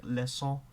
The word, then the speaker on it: leçon: There's a C with a Sadija, which is pronounced as a S sound all the time, so like leçon, and that will only exist before I think it's weak.